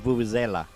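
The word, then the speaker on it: vuvuzela: should oh man so let's get the pronunciation right because you're saying zela what is it it's very british of you but it's vulvazella i don't know i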